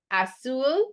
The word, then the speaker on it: azul: Azul, the Z gets an S sound.